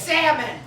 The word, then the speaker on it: salmon: It's salmon. L is silent. It's not sold.